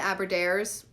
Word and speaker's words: Aberdares: other expeditions to find, one was in the Aberdares, sounds like horrible in an American accent, but that is how you say it, in Kenya, both of